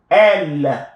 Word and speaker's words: elle: Elle, pronounced the same way as L here.